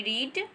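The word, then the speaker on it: read: पढ़ना का अंग्रेजी होती रीड, और सेकेंड वर्ब में स्पेलिंग तो वही होती है लेकिन इसको हम रेड पढ़ते हैं।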